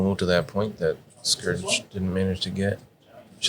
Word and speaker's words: Skurge: I believe it's pronounced Skurge.